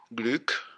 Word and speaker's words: Glück: flow in the work Gluk her surname rhymes with click not clar it's not the new